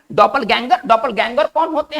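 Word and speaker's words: Doppelgänger: और इसका उच्चारण हम करेंगे डॉपल, कुछ खास नहीं है, डॉपल गैंगर।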